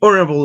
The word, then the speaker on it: honorable: an hour an honest man an heir an honorable idea notice that this word starts with the letter h silent letter so you start with a vowel sound